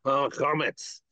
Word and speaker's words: Chametz: Chametz? Comments, yep. Chametz.